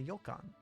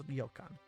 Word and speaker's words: ryokan: inward right now is known as a yokan a ryokan rather not a ilkan i thought i heard yulkan first but it's ryokan the style of in